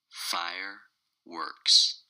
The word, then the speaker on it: fireworks: fireworks fireworks fireworks fireworks it's two syllables and the stress is on the first syllable fire works fire works fireworks it's a noun